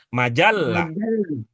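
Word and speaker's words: مجلة: Majjalah. Nah, jadinya itu. Bu, mau beli apa, Bu? Beli majalah. Nah, beli majalah. Jadinya gitu. Kalau jimnya yang bertasdid. Kalau lamnya yang bertasdid, majalah.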